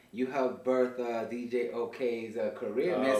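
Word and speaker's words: OOKAY: He ended up being a DJ called OK. Okay. It's spelled O-O-K-A-Y.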